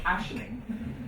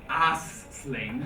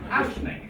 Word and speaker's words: Aisling: So Aisling, not like I met an American once who called a lady ass sling. Sling in your ass. No, Aisling.